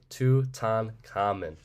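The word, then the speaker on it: Tutankhamun: them you probably have his name is actually pronounced Tu tan common and he goes by many other names but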